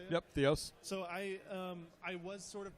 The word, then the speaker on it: Theos: Theos.